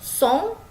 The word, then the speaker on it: son: Oke, song ya dibaca song.